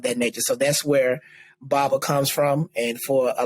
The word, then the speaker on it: baba: you say bubba watch what bobble wash and baba how do you spell that b-a-b-a and baba yeah so so baba